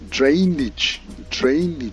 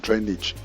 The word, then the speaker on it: drainage: It is correctly pronounced drainage, and not drainage.